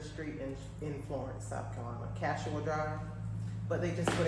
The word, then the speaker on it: Kashua: Tell me if I'm wrong. Kayasha? You're wrong. It's Kashua. Woo! See how beautiful it is? Kashua.